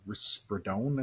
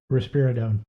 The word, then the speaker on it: risperidone: But we have him on what they call, I think it's called risperidone, I think is how you say it. Risperidone.